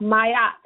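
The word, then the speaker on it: Ma'at: a t m a apostrophe a t is pronounced mayat now when you look at the bottom of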